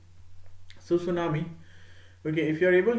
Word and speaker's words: tsunami: here that is t tsunami or basically t is silent here so tsunami okay if you are